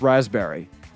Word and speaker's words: raspberry: I still don't know how to pronounce raspberry. Why is the P silent?